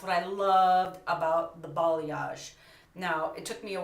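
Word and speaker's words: balayage: root and that's what I loved about the ball yash now it took me a while to figure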